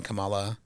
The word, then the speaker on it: Kamala: I stand by what I said because I remember I posted on my Facebook when Kamala Kamala lost. Um Kamala Kamala I always say it wrong.